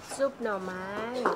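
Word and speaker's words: ซุปหน่อไม้: How do you pronounce this dish? The one with the bamboo? Soup no mai.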